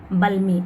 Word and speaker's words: balmy: The air became soft and balmy. L is silent.